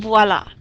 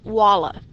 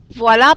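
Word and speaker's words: voilà: words Otomo voici and voila you've probably heard voila before and a lot maybe you've even used it voila means there is Vlad is not pronounced wallah you definitely say the V notice the accident a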